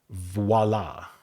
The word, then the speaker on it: voile: Voila. That with an E. Wow. What is this word? Voile?